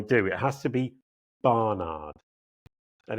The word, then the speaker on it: Barnard: It has to be Barnard and it has to be very clear.